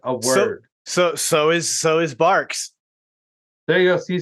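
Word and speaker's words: Barq's: So I'm not saying- 22 milligrams of caffeine per 12-ounce can of Bargs root beer. Yeah, dude. Sean, there's a Q at the end. And You're pronouncing a Q as a G.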